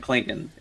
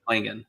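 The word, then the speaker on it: Clingan: I know I call him Cleon because it just rolls off the tongue well. Donovan Klingon that's how you say it, Klingon.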